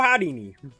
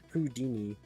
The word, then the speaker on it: Houdini: be performers, but you're frankly no Houdini. First of all, it's pronounced Hardini.